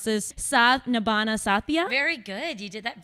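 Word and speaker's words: Saath Nibhaana Saathiya: daughter-in-law, Monica Modi, on, I'm going to try to pronounce this, Saath Nibhana Saathiya.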